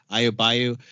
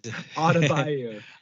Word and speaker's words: Adebayo: Adebayo. Yeah, he's Adebayo.